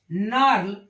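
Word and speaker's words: gnarl: य जी ऐसे ही जी आर एन ए आर एल इसको पढ़ते हैं नार जी देखिए जी य साइलेंट हो जाता है क्यों क्योंकि एन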